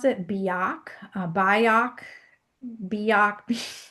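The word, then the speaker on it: Byock: Ira, I believe you pronounce it, Bak Bio, Bio like be ready, be organized, whatever it was.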